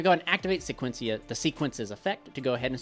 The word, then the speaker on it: Sequence: to save his life it's the fiend Smith or fiend Smith sequence sequence maybe I'm pronouncing it wrong but i c s e q u e n c is spell sequence not sequencia drives me nuts anyway